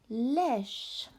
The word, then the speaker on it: lèche: Lèche. Lèche. As you can see, we've got our little E here. Lèche with a silent E is to lick.